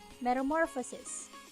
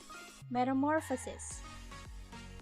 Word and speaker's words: metamorphosis: first one how about this word metamorphosis it has five syllables this which is the stressed syllable metamorphosis metamorphosis it is the third one right now what if